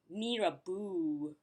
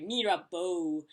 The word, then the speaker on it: Mirabeau: And fortunately, that isn't the only word that I pronounce it correctly for the Monaco corners. So, yay me! The next one is Mirabeau. No, Mirabeau. No, Mirabeau. Yeah, sorry, Mirabeau.